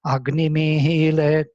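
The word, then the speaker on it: अग्निमीळे: So Agnimehile, long E, Purohitam, one short E, because there is no double svarita.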